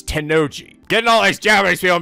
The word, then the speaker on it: Tennoji: Also, I kept pronouncing Tennoji wrong. I was pronouncing like I did the guy from the Zero Escape series, Ten Miyoji. But no, this is Tennoji.